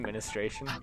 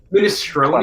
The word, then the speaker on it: minestrone: That's actually how you say it. I'm actually correct. My family's Italian.